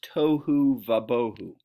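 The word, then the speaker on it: תֹהוּ וָבֹהוּ: translated in English that the Hebrew here is toe huva beaucoup it rhymes as you can as you can hear it it would be more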